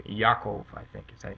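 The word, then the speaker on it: יעקב: him Jacob and and but they pronounce it in Hebrew Yakov I think is I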